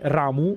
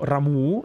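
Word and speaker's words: Ramuh: sappiamo tutti benissimo che l'invocazione di cui stiamo parlando è ramu o ramuu in base a come l'avete sentito pronunciare però qui è stato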